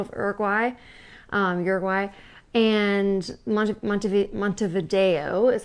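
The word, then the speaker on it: Montevideo: was the capital of Uruguay um Uruguay and mont mont mont Vio is how they say it and that was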